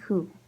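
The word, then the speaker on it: thú: And for example, we can say ní khred-im hu. Ní khred-im hu. Ní khred-im hu. I don't believe you. Hu coming from to, but with the shay, it changes the pronunciation to a H.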